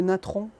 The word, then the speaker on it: natron: Ce qu'on peut faire, c'est qu'on utilise le natron. Donc c'est comme ça se prononce, Natron.